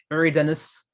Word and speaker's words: Eridanus: Oui, il ne faut pas prononcer ça en français. Eridanus, ça vend pas du rêve forcément. Hein, non, c'est vrai que là, il n'y a pas à chier contre un radiateur. Eridanus, non, on va le prononcer Eridanus.